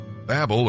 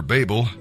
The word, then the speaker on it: Babel: Babel or Babel, people do pronounce it different ways, means confusion.